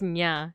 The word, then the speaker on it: niya: would say mataas grades nya. Yeah. Exactly. That's another one too, is that it's not niya. It would be nya, you know? It kind of like a cat, like nya.